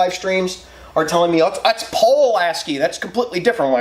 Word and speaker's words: Pulaski: Apparently, everywhere else in the country, Pulaski isn't said that way. It's said like Paul-lasky or something.